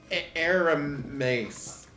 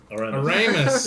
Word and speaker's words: Aramis: And that will bring us to Aramis. Aramis. Yeah. Uranus. He's never gonna get it. Jeez, man. It's fine. It's fine. Yeah. It's fine. Just remember, Harold Ramis.